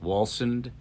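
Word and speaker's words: Wallsend: in a town called walsend if i'm pronouncing that correctly walsend w-a-l-l-s-e-n-d and by sting's telling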